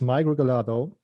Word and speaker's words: Mike Regalado: hello emma good morning our guest today is migralato hello mike thanks for being here thank you thank you very much and you pronounced my name correctly beautifully nice thank you